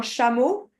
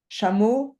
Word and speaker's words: chameau: En français, ça se prononce chat. Ah. OK? Chat. Chameau, chamelle, chamelon.